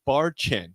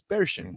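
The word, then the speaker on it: Barchen: spell version b-a-r-c-h-e-n okay it looks like bar chin but it's bear Shin okay I see you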